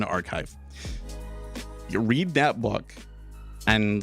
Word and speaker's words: arXiv: It's a free document that they posted on ARXIV, okay? On Archive.